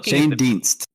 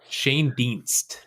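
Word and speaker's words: Schoendienst: Dist. Shane Dienst. Shane Dienst. I've never heard that pronunciation, to be honest, but that's what Baseball Reference says.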